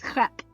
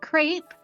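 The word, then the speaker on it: crêpe: What if I come here and I say it's crap? Okay. What if it's a crap? All right. Crap. Okay. Not crepe. Crepe. Crap.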